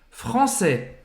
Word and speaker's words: français: Então, presta atenção que quando a gente fala no masculino francês, é como se o S ele sumisse da pronúncia. A gente vai terminar a pronúncia no AI, que tem som de E, que você já aprendeu. Então, français.